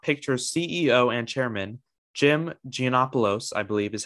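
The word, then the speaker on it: Gianopulos: that the paramount picture ceo and chairman jim gianopolos i believe is how you pronounce it would hand over control of the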